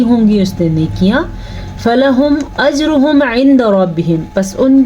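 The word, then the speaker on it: فلهم: اگر ہم اس کو فلاہم پڑھیں گے تو ہم نے پڑھا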